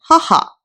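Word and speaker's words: はは: par rapport à ma mère, on dit haha. On prononce H.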